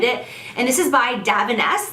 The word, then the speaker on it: Davines: And this is by Davines. That's how my hairdresser pronounces it. I think it looks like it's Divines, but he says Davines.